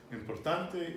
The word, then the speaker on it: importante: So on the penultimate syllable is where you always stress. And in Spanish, you do not stress on more than one syllable. And on anything that ends in a vowel, it's always the penultimate syllable. So in this case, importante is importante. Imposible is imposible. It's not imposible.